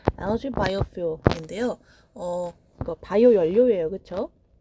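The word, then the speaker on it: algae: 이거 발음 잘 하셔야 돼요, 여러분. LG라고 합니다. 우리가 알고 있는 그 대기업 있잖아요. 그 L 회사. 그거랑 발음이 비슷하다 보시면 될 것 같아요. LG 바이오퓨얼인데요.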